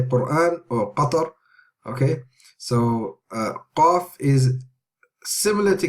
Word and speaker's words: Qaf: Qaf, Qaf, not Kaf, no, not Kaf, not Kaf.